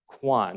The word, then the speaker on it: Cuan: Cuan. Okay, that's what I was. The Irish spelling is pronunciation is Cuan.